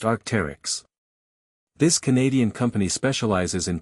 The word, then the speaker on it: Arc'teryx: Arcterix is pronounced Arcterix.